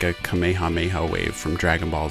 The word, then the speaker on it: Kamehameha: Some have pronounced it as Kamehameha or Kamehameha, and others have said Kamehameha. Apparently that is the more correct way to say it.